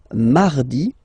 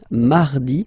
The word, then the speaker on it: mardi: So you can hear that you don't pronounce it that strongly, this R. Huh? Mardi, mardi, okay? You don't need to go too deep like mardi. No, no, no. You don't move your tongue, so it doesn't sound like mardi.